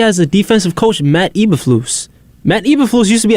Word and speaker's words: Eberflus: I mean, it might just be the coaches too, though, because he has a defensive coach, Matt Eberflus.